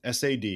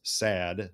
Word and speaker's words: SAD: So let's establish that first, the SAD, and it was never pronounced as SAD, unlike many acronyms that become the word they look like.